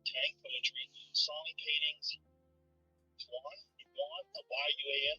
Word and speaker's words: Yuan: Unlike the dragon, tiger crane or tortoise doesn't appear on ancient bronze or pottery, in tank poetry, song paintings, Yuan, Y-U-A-N, how do you say that?